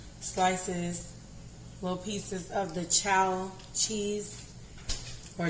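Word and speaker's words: Chao: We're going to use, I chopped up some slices, little pieces of the chow cheese, or chow, one of them.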